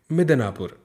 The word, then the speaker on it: मिदनापुर: इसके बाद लिखा है मिदनापुर, म में छोटी की मात्रा है इसलिए उच्चारण कम समय के लिए करेंगे, मिदनापुर।